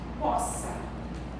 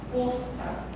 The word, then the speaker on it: poça: tem vários sons então aqui não é POA é poça você diz o quê